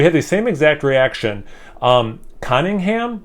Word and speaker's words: Conyngham: Conyngham, I believe is how you pronounce it, Brewing Company.